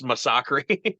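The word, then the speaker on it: Masacre: massaki at all uh their name is spelled Masa c not it's not Massacre it's massaki okay uh which is they're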